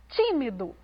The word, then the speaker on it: tímido: Veja só, tímido. A sílaba pronunciada com mais ênfase foi o ti.